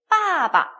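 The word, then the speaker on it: 爸爸: 자, 아빠, B-A 적혀 있어요. 사성, 경성입니다. 자, 어떻게 읽을까요? 빠바, 그죠? 빠바.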